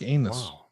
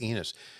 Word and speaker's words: Enos: wow yeah oh enos enos if your name rhymes with penis how much [ __